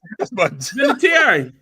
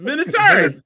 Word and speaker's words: Vinatieri: So you add extra syllable in there. What's his name again? Vinatieri. What is it? Vinatieri.